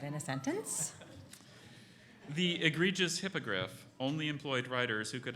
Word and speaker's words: hippogriff: please use that in a sentence the egregious hippogriff only employed writers who could identify both names of the hippogriff from Harry Potter language of origin plays it's